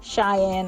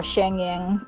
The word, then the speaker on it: Schengen: Cheyenne or Schengen pronunciations differ, but we can help you with that.